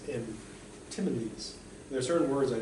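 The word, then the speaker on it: antinomies: I want to say anti-monies, like the anti-money. No, it's money and anti-money, it's meaning. That's what brought down the economy. They touched together, the economy went to pieces. I think the correct pronunciation is antimones.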